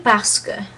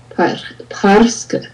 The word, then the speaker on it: parce que: You want to do parce que. Parce que.